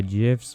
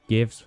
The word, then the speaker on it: GIF: get cancelled here, uh GIFs or GIFs, however you want to pronounce it, I don't care. It's J I F. It's always been that way.